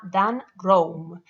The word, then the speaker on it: Dan Roam: Si queréis saber más sobre visual thinking, podéis buscar un autor que se llama Dan Rame. Dan Roam se escribe.